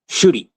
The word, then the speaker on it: Chibnall: Um Chibnall I think I think is how it's pronounced according to Ian here.